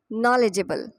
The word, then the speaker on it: knowledgeable: इसकी सही प्रोनाउंसिएशन है नॉलेजेबल, नॉलेजेबल।